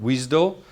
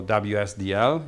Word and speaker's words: WSDL: web service description language uh pronounced wisdo or wsdl if you want to do it more correctly uh what is it